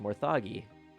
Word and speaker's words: Morthagi: the luck returned quickly see those are called morthagi Mo oh there it is there's the pronunciation Mori oh it's actually pronounced morthagi ha all right I was right this time